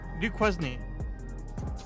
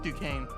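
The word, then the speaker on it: Duquesne: So, the the most common I hear mostly from people from New Jersey is uh Dquznney.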